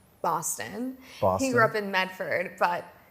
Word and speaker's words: Medford: He grew up in Medford, but It's pronounced Medford. Medford. I'm from Medford. Yeah. Medford. A lot of people say Medfa, which is so That's even inaccurate.